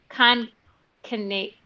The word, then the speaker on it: Concatenate: She's an O'Reilly author and co-organizer of Concatenate, like concatenating a string.